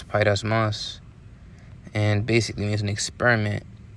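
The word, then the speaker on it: πειρασμός: it out right now, just in case I mispronounced it. Strong's G 3986, pyrasmos. Pyrasmos. All right, so it's pyrasmos.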